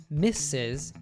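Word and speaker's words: Mrs.: row we have the s4 misses which is pronounced misses then we have the s for clause which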